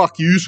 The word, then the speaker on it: Arceus: Donc, effectivement, Arceus ou Arceus, chacun le prononce comme il veut.